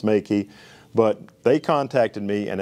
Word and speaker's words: Meike: But I've been calling it the Meike MK320 flash, but it's pronounced Meike.